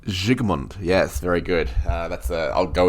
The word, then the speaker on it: Vilmos Zsigmond: life of me, I'm going to have trouble pronouncing that dude's name. Vilmos Zsigmond. Zsigmond, yes, very good.